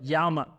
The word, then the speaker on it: llama: And a good first one to know is llama a la policía, or call the police. And no, it's not pronounced llama like the animal, but llama.